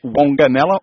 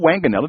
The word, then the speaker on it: Wanganella: He runs the post office and general store at Wanganella, or Wanganella, depending upon which pronunciation, which is further up the creek.